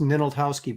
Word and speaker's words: Ninaltowski: That's pronounced Ninaltowski, by the way, in case you're wondering.